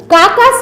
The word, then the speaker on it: carcass: কাকাবাবু বললেন, কথাটার বানান হচ্ছে কার্কাস, কিন্তু আরটা উচ্চারণ হয় না। কাকাস মানে হচ্ছে মরা পশু।